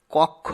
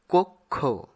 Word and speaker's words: কক্ষ: এরপরে অনুগত কক্ষ আমরা অনেক সময় কক্ষ উচ্চারণ করে থাকি যা সঠিক উচ্চারণ নয় সঠিক উচ্চারণ হবে কক্ষ পরেরটির সঠিক উচ্চারণ হবে